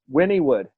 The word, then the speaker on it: Wynnewood: Wynnewood. Like win. Like I'm winning. Win. Like Winnie the Pooh.